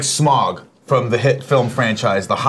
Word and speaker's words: Smaug: Okay, Smaug. I say it the right way. It seems like it's Smog. I'm like, no, if they wanted it to be Smog, it would have spelled it S-M-O-G.